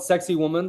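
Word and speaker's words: Sacsayhuamán: said they do did yeah it's it's called sexy woman that's how you pronounce it um and uh it they it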